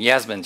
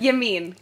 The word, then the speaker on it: Yameen: And Yasmin's your last name, right? Yameen. Close. Yameen. It's a tough one. Honestly, don't worry about it. It's just as it's spelled.